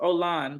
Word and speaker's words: Olan: to me it's ol it's pronounced Olan by the way o Olan I cannot your name is pronounced Olan Olan is not an